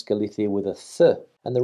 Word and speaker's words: Galicia: for the comment and the reason i pronounce the word galithi with a sound is that spanish is a phonetic language and the c is pronounced the when followed by an i for example galicia and